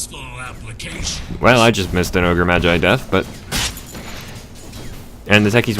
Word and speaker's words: Ogre Magi: And please note, I'm probably not going to be saying Ogre McGee just because... I'm sorry, if you're wondering, by trade and training, I'm actually an English teacher, so intentionally mispronouncing a word like that kind of grates on my nerves a little bit, but... So I am going to be saying Ogre Magi or just plain Ogre.